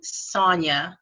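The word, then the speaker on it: Saunya: follow on Instagram that's on Sonya but it's spelled sa un Y AAA and she had a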